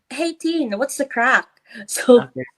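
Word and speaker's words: craic: you they would say hey teen what's the crap so it's spelled as c-r-a-i-c but um it's like saying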